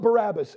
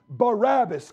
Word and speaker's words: Barabbas: The name Barabbas comes from two syllables, Bar, Abbas. Bar, the son of Simon, Bar Jonah.